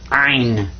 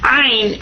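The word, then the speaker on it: عين: And this guy's name is Ein. In ein, you kind of squeeze the back of your throat when you pronounce this one.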